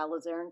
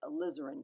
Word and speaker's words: alizarin: crimson and ultramarine blue I said a lazarenn I always want to say alizarin I keep saying it wrong I'm determined to get it right alizarin crimson so you can